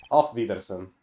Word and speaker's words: Auf Wiedersehen: How do you actually pronounce it? Auf Wiedersehen? Auf Wiedersehen. And the forecast... Yeah, off.